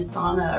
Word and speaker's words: sauna: who live up there are from Finland, and sauna originated in Finland, so it's called sauna.